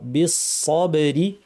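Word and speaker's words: بالصبر: ওয়াস্তাঈনু বিসসবরি, সদটাকে ভারী করতে হবে। সদ ভারী করার উপায় কি? জিহ্বার শীর্ষ নিচের পাটির দাঁতের গোড়ায় লাগিয়ে সদ উচ্চারণ হয়। ভারী করার জন্য জিহ্বার পেছন দিয়ে আওয়াজটাকে উপর ঠেলতে হয়। আস, ঠোঁট গোল না করে, ঠোঁট স্বাভাবিক থাকবে।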